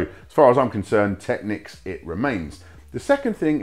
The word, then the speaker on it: Technics: it is official the way you're supposed to pronounce the brand name is techniques however I've been saying techniques my whole life it scans better for me